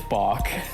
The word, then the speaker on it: Bach: It's Bach. It is balk.